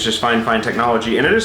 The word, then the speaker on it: FiFine: technologies actually it's just fine fine technology and it is spelled f-i-f-i-n-e i was told it is pronounced fine fine so let's get this